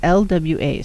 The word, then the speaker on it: Lwa: Lua? It's Lwa. So if I'm pronouncing it wrong, I'm sorry.